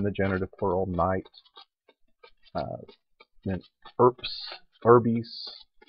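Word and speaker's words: urbs: Then erps, erbis. So you're supposed to actually pronounce that like a PS.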